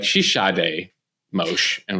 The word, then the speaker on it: Sade: wrong so admission here I I called her Sade day and you're like she's shade mosh I'm like you're right chill and for